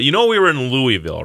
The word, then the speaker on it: Louisville: us and and uh in Louisville Louisville yeah that's how you say it by the way Louisville